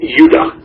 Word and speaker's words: Judah: called Benjamin and Judah what properly pronounced Judah because we didn't get the harder sound to the Jay until about two hundred years ago so this is